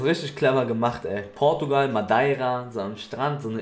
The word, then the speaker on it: Madeira: Madeira wird es ausgesprochen.